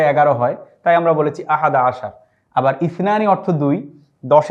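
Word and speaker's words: أحد عشر: আহাদা আশারা কাওকাবান। আহাদা আশারা শব্দের অর্থ হচ্ছে 11। আমরা এই 11র আরবি উচ্চারণটি এখানে লিখে দিয়েছি। আহাদা আশার। আমরা সহজে বলার জন্য বলব আহাদা আশার।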